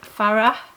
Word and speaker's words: Fara: heard different pronunciations, but he says it is Fara with a H on the end, Homidi.